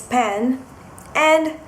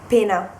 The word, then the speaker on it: pena: Then we've got Penna, which is the object you write with, and it means pen. And if you do not pronounce the double N, it becomes pena, pena, which means pain, suffering. So penna, pena.